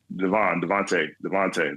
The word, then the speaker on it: DeVonta: But those the AJ and I don't want to get his name wrong, but Devontae Smith. Devontae.